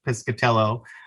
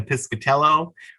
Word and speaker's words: Piscitello: You know, there's two I's in it. There's not a single A, but you can hear an A sound.